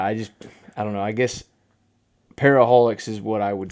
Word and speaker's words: Para-holiX: Yeah, I would say it's Para-holiX. Yes. just plain Para-holiX.